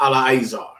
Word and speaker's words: Eleazar: But then he is properly pronounced Eleazar.